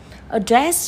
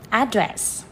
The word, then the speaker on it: address: nó cũng có ừ sẽ có hai cách đọc address chọ âm 2 hoặc là address đấy chọ âm 1 đấy thì tùy vào